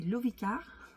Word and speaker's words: Lovicar: Qui est organisée par d'autres nomades, qui sont les Lovicars. Pareil, c'est une super chaîne. Vous pouvez aller les rencontrer sur leur chaîne, Lovicar, comme ça se prononce.